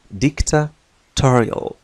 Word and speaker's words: dictatorial: Dictatorial, dictatory, لاحظ النطق, dictatorial. الشدة توجد على هذا المقطع ما قبل الأخير.